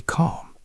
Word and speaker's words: calm: Notice how the word calm has a silent l. We do not say the L sound. We just say calm.